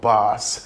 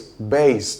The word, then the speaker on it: bass: Um the word is not bass, especially when asked to do with low tone, either in music or for the for male voice. The word is bass, the pronunciation.